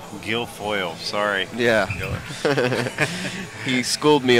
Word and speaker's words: Guilfoyle: nineball yes sir featuring David King and Charlie giloy Gil foil Gil foil sorry yeah he schooled me on how to pronounce his name but spelling is different in